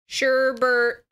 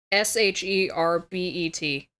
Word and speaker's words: sherbet: It doesn't say sorbet, though. It's spelled like H... Yes, sherbet starts with an H. Fucking fantastic, you dumb motherfucker. S-H-E-R-B-E-T. So I think it's sherbet, but for some reason my brain goes sherbert.